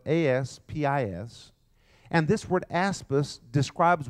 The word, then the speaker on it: aspis: a shield the first word is the word aspis spelled ASP is and this word aspis describes what most of